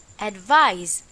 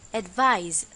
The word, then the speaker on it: advise: and the pronunciation is advise remember that this time it's a z sound advise for our exercise fill